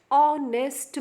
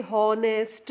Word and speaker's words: honest: honest man over here also H is silent on nest man we never say hornist man that is a